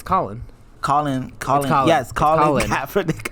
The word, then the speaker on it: Colin: How do you say his first name? I think it's Colvin. It's Colin.